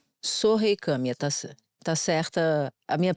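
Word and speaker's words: Sohei Kamiya: O nome dele é o Sohei Kami, é isso? É. Sohei Kami, tá certa a minha pronúncia.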